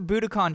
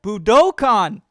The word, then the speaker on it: Budokan: can i get to buda con she's like i said and she didn't know what i was talking about oh budokan i said it wrong that's how i know